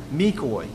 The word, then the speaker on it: McCoy: My name is McCoy. Rhymes with decoy, but it starts with an M.